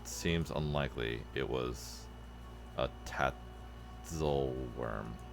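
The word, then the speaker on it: Tatzelwurm: It was a tatel worm. Telworm is how you say it.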